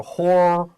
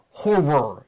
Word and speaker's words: horror: both at five percent be careful of how we say horror the or is a little bit more of an er so horror er horror it's a little bit hard to say it's a word you have to practice let's continue although the